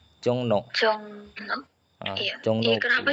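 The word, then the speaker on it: 종로: Dibacanya n. Jongno.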